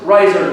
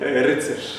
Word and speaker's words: Rycerz: I should say, Rycerz. Did I pronounce that right? Almost. How should we say it? Rycerz. Rycerz. Oh my God, I was very off.